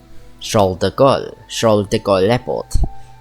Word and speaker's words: Charles de Gaulle: Charles de Gaulle Airport.